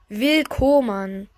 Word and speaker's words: Will Koman: Will Koman heißt der. Und nein, der wird wirklich so ausgesprochen. Da steht Will Koman.